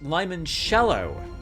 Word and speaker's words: limoncello: Before we go any further, Windwater has corrected my pronunciation of limoncello. I believe it's pronounced limoncello, and it turns out